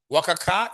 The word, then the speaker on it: WACC: WACC is an professional way of pronouncing it, eh? Yeah, I want you to be pronouncing this as WACC.